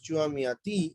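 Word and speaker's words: Chua Mia Tee: Born in China, Chua Miati, pronounced as Chua Miati, is widely acknowledged as one of the greatest living artists today.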